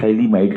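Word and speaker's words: phthalimide: क्या बोलते हैं इसे, थैलीमाइड कहते हैं। PH THA, PH साइलेंट होता है, थैलीमाइड, ये क्या कहते हैं इसे, थैलीमाइड कहते हैं।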